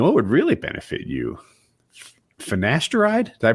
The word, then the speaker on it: finasteride: think you know what would really benefit you finasteride did I pronounce it right yep how do you say